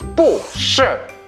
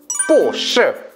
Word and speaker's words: 不是: 不是. 두 번째, 不是. 어느 게 편해? 不是. 그렇지, 발음이란 것은 어디까지나 사람들 편하게 하기 위해서 만든 거거든. 근데 不是 하면 듣기 어색하니까 不가 뒤에 사성일 때는 이성으로 바뀌는 거야.